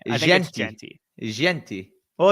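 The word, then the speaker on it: Jeanty: name like that because I think his name is jenty oh right jenty pretty sure his name is jenty I know it's spelled jti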